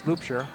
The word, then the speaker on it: Loopshire: Loopshire, I was pronouncing it Loopner, it's Loopshire with the ball.